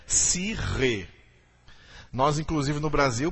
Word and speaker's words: psique: não é cardia e em grego a alma é se rei que alguns em português erroneamente pronunciam-se que disse que já ouviu falar de psique dessa pronúncia errada a pronúncia correta é se ri nós inclusive no brasil